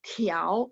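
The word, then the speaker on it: 条: Oke, 24 tiao, ingat T baca TH. Tiao ada angin ya, nada 2. Tiao.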